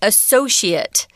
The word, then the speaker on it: associate: If you say the verb form, guys, be careful because the pronunciation is different. To associate with somebody, here we're saying associate, it, not ate, it.